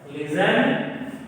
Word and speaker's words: listen: Listen, eaten, after. So similar letter is T. So T is some letters, some words T is pronounced, some words T is silent.